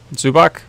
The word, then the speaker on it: Zubac: Zubac?